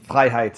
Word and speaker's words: Freiheit: Well, I don't care if anyone mispronounces it, but it's phonetically it's the first half of my last name, which is German for freedom, Freiheit, verbatim.